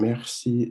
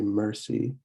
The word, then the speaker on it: merci: And merci is, again, the French R. You're not going to say mercy like you would in English. You're going to want to say merci, merci.